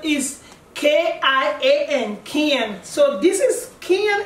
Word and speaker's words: Kian: So meet Kian, and most of you spell it as K-I-O-N. No, that's not the correct spelling. The correct spelling is K-I-A-N, Kian.